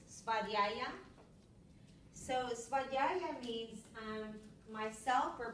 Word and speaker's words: svadhyaya: Okay, so this niyama, it's pronounced svadhyaya.